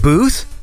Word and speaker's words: Both: wait a second uh-oh it's not pronounced both is it oh you told me this too didn't you wasn't this like years ago is it Booth it's spelled both but it's pronounced a different way God my memory sucks